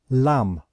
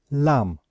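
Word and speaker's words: lamb: word we pronounce it Lam Lam so we know that we do not pronounce the last letter b okay so with IPA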